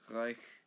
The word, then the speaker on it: Reich: And contrary to popular belief, it is not pronounced as Reich, but it is Reich, and not Bach, but Bach.